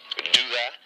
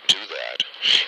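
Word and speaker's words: Douthat: Anyway, screaming headlines, and this is an opinion written by Ross, I hope I'm pronouncing this correctly, Douhat, D-O-U-T-H-A-T, Douhat.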